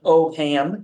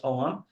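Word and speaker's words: Ogham: is called the OM do not pronounce an oam it's omam the omam alphabet which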